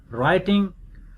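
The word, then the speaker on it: writing: डब्ल्यू एंड are initial, rake, W is silent, रिस्ट, डब्ल्यू is silent, राइटिंग, डब्ल्यू is silent.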